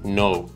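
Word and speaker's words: know: برای حرف زی هست حرف ک قبل از حرف ان سایلنت میشه و تلفظ نمیشه مثل نی نایت نو حرف اچ حرفیه که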